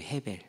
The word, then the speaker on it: 헤벨: 그리고 우리 학생들은 얘기를 했지만은 아벨이잖아요. 헤벨이에요. 헤벨. 헤벨.